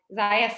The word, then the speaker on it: Xayah: it's called that because nobody could pronounce xayah at the beginning they all said zia which is totally okay um so we used to kind of be like ziya sounds like papaya like we had a